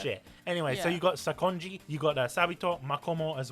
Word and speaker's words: Sakonji: Because if you can play as how do you pronounce his name? The guy that taught Tanjiro his forms. Sakonji.